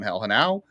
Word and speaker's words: Genao: I was told it was on Hell and Now, but I've, I've, you